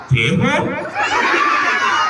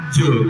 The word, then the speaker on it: Jho: Bacanya apa? Jeho? Bukan. Ini namanya adalah Kak Jo.